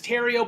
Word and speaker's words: Theriot: And I was like, that's how you spell Theriot. You're seeing it in all caps, and you're automatically looking at it as The Riot, but it's just, that's how you spell it.